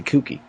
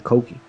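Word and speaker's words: Kouki: Like, I'm the same as you, I've always called it the Kooky. Yeah, and I'm only recently in the last couple of months getting used to calling it the Koki. But that's actually the way it's pronounced.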